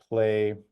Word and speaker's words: Plai: type in something like play um I'm I'm I'm spelling it out play because this is how we would want to be pronounced so play is uh